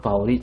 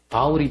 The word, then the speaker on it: 바울: 되었다 그런 뜻은 아니에요이 이름이 히브리 말로 부를 때 유대 사람들이 이름을 그 부를 때는 사울이라 발음으로 얘기하게 돼요 그런데이 사울이라 말을 헬라 말로 읽으면 바울이 되는 바울은이 유대 민족이 아닌